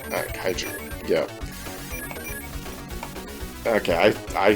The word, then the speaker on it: kaiju: a kite you or chi-su I think it's kaiju kaiju yeah okay I said it wrong sorry everyone